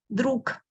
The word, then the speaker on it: друг: Друг. Друг. Друг. So I write g, but I pronounce k.